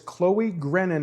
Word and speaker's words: Chloe Grennon: We are here this evening with Miss Chloe Grennon. Am I pronouncing that correctly?